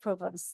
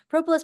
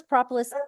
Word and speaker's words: propolis: okay go ahead exactly why do be make propos this is propolis propolis you can't say it wrong it's got It's